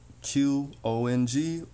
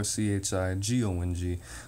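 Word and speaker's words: Qigong: Some people spell it with a Q. Chiqong or Chigong, which is a movement, a moving meditation.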